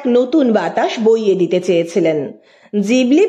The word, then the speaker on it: Ghibli: গিবলির আসল উচ্চারণ হলো জিবলি।